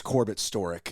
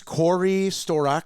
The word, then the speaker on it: Corbett Storick: My name's Corbett Storick. It's never been pronounced correctly. Those spam guys call me, and they most of the time have like a Indian accent, and they'll be like, "Is Corey Storak there?"